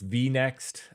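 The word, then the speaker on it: vinext: Um, so you know, they they say that it's pronounced V- Next.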